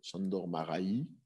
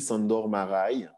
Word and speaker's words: Sándor Márai: Alors, la prononciation n'est assurément pas bonne, Sándor Márai. Je ne sais pas, on m'a dit qu'il fallait dire comme ça. En tout cas, moi, je dis Sándor Márai.